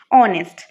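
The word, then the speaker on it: honest: আর ওই পার্টিকুলার ওয়ার্ডটা যখন আমরা প্রোনাউন্স করবো উচ্চারণ করব তখন সেটা ভাওয়েল সাউন্ড হবে যেরকম আওয়ার অনেস্ট এয়ার তারপর রয়েছে যেরকম অনার্স তো এটার আগে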